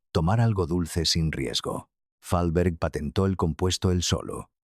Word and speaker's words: Fahlberg: Fahlberg. Fahlberg. Acento en la primera sílaba.